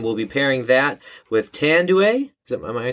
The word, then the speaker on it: Tanduay: spider king and we'll be pairing that with tanduay am i saying that right tend to a